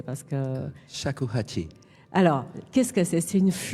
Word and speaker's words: Shakuhachi: Je vous laisse le prononcer parce que... Shakuhachi.